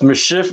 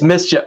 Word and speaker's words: MSCHF: MSCHF, which might be pronounced mischief. It's mischief.